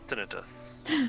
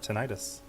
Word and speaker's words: tinnitus: Marizio, it's pronounced tinnitus. Oh, are you sure? I've always heard it tinnitus.